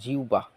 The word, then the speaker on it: জিহ্বা: জিহ্বা শব্দের উচ্চারণ জিহ্বা।